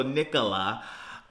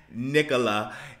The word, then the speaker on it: Nicola: nickel Nicola Nicola Nicola I also say nickel first and then La so Nicola um this is the